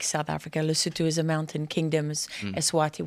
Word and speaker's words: Lesotho: Yeah, if you don't include Eswatini and Lesotho, which is sort of inside South Africa. Within the borders there, yeah. How do you pronounce it? Eswatini and Lesotho, how do you pronounce it? Yeah, that's right. Lesotho?